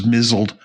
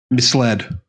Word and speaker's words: misled: that's no that's yeah somebody I met thought that Mis L was mled and it really perplexed The Living Daylights out of her oh what is it misled oh my gosh that's